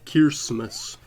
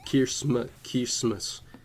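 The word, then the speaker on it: Kiritimati: Uh, it its name is spelled Kirimati but uh pronounced Kirmus uh which is derived phonetically from the English word Christmas but written in Gilbert.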